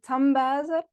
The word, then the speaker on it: Tambuyser: So, my surname is actually Tamboisa. Uh but I know it's very difficult to pronounce.